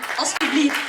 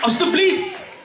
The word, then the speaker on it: alsjeblieft: Alsjeblieft. Alsjeblieft.